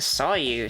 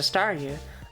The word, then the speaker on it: Staryu: But back when I was a kid and Star Me was still just a Staryu, I could never pronounce its name right. It always ended up sounding like saw you.